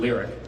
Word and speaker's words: Liercke: How do you pronounce that last name? Lyric.